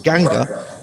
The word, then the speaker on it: Ganga: which the poem calls Ganga, and the Himalayas, which the poem calls Himavant. I'm using Eliot's own pronunciations here, and I'm aware that there may be different or perhaps better pronunciations of those terms.